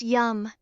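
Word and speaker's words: यं: As she breathes deeply, she can repeat the mantra yam, pronounced yum, which resonates with the heart chakra and invites healing and self-love.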